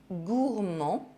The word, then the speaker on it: gourmand: These consonants as the final letter of a word are silent in French. D, G, P, S, T, X, and Z. D'accord, gourmand, sourd, un point, long,